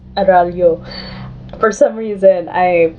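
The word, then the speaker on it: Araullo: plans to, such as Extra Credits and Kirby Arolo, and I'll link to their videos relating to that down below. Editing Laudaya here, so I know that Kirby's last name is pronounced Aralyo.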